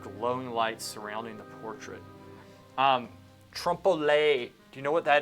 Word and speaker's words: trompe-l'oeil: It's trompe-l'oeil. Okay, that's what it is from now That on. is spelled O-L-E with that little apostrophe thing on the top, right?